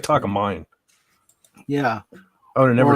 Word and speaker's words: Takamine: It's like Takamine. Nobody's going to say Takamine. They're going to say Takamin. It looks like Takamine.